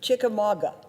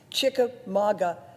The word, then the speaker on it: Chickamauga: engineers funding for inland waters particularly his favorite chickamauga this is the first time i ever heard the word pronounced chika maga lock he often talks about in our hearings